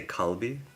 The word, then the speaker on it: KLB: How do you say KLB? So, I say Kalbi.